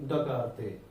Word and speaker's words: Descartes: तो देखिए this study was initially developed by the French philosopher and mathematician Renee दकार्ते। यहाँ S silent है student.